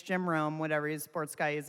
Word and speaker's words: Jim Rome: the guy's name wrong it's not jim romy it's jim rome whatever his sports guy